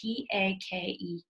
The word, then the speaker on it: take: Finally, number 10 is just like same or come, we don't say the E on the end. It's that quiet E, the silent E that makes the vowel make a different sound. So we thought take is T-A-K-E, take.